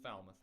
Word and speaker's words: Falmouth: It's pronounced Falmouth, but she was looking for a smaller fiddle, I guess.